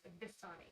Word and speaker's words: Vistani: It's Vistani. Vistani. It's I thought it was Vishtani, but I know. I've heard it pronounced both ways.